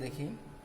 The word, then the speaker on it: the: কারণ হলো দায়ের পরের শব্দের প্রথম অক্ষর যদি কনসোনেন্ট হয়, দায়ের পরের অর্ডের প্রথম অক্ষর যদি কনসোনেন্ট হয়, তাহলে আমরা THE এর উচ্চারণ করব দা।